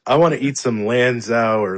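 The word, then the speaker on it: Lanzhou: I just I want to eat some Lanza or Lanzo or however you pronounce it. Noodle soup. Oh, Lanjo.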